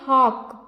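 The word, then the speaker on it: hawk: इसे क्या पढ़ेंगे आ एच ए डब्लू के से यहां भी डब्लू साइलेंट है इसे हम क्या पढ़ेंगे हॉक हॉक हॉक flying F एल वाई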